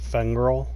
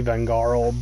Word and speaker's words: Vengarl: It's supposed to be Vengarl, but I always say Fengrel. I know I say it like with an F, but it's just how I.